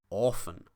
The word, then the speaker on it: Ofen: Orphan and often. Because this is a single F, this or, the vowel before it, becomes long. Orphan.